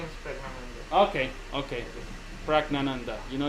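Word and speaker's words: Praggnanandhaa: My name is Pragnananda.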